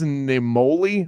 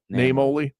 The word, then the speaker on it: Naimoli: He took over from the founding owner, Vince Naimoli, I think is how you pronounce it. Yeah, Naimoli.